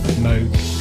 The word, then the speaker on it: Moog: pronounced it Moog.